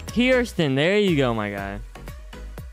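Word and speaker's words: Kearsten: this p from like what how do i pronounce it lil it's kirsten there you go my guy there you go fiersten k-e-a-r-s-t-e-n kirsten that's phone's name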